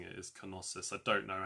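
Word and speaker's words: Knossos: one, the Palace of Kosus? That's in the comments now if that's what you meant. I think Americans say it without the K, but I think the British the British way of pronouncing it is Konosus.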